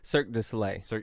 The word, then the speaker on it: Cirque du Soleil: Is it Cirque du Soleil? Cirque du Soleil. Thank you. I can never pronounce that What?